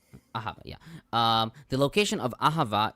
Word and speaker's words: Ahava: How is it pronounced? Ahava, yeah.